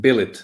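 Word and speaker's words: Bêlit: I pronounce it billet because that's how we use the circumflex, but not how the French use it.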